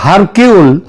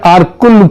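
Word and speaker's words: Hercule: আঘাতা কৃষ্টির যে গোয়েন্দা আরকুল পোয়ারো তার তত্ত্ব অনুযায়ী আগাতা কৃষ্টি এবং তার গোয়েন্দা আরকুল পোয়ারো এটা যদিও ওই উচ্চার উচ্চারণে এটা হয় হারকিউল কিন্তু একচুয়ালি উচ্চারণটা হচ্ছে আরকুল পোয়ারো তিনি যদি আজ বেঁচে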